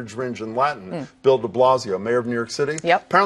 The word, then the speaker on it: de Blasio: It's de Blasio is how you pronounce that de Blasio.